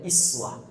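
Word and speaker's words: أسوة: kalimat Uswah Uswah kata Uswah itu bisa dibaca dengan riwayat iswah iswah ini ada dua cara baca di sini bisa Uswah riwayat hafz dari asim bisa iswah riwayat J kalau kita bacaqah Uswah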